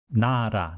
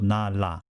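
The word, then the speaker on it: 나라: real sound of hangul here is a slightly different case nara nara means nation or country in this case nara ra is always pronounced as soft all even though the real comes at the beginning of a character ra the previous character na does not have any so nara instead of na la however when the first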